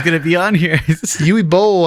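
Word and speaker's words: Uwe Boll: charming let's talk about yui ball everybody i knew it i knew he was going to be on here yui bowl i should say sorry i mispronounced his name but you know what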